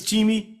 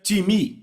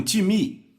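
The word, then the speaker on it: τιμή: em português pronunciamos talvez time não se pronuncia dessa forma em grego se pronuncia time repita um time Ok então eu falei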